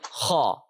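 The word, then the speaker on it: خ: If you remember, if you keep this sound in mind, the letter saw, the word saw in English, you will be able to pronounce every heavy letter very easily in the Arabic language.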